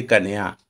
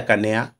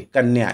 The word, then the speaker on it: कन्या: है इस प्रकार देखिए कन्या कोई बोलना है कन्हैया नहीं कन्या यह मेरी कन्या है